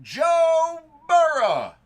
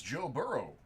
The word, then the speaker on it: Burrow: prism Pini draft pick Joe burough or if you want to say it like a normal person it's Joe burrow we'll move on to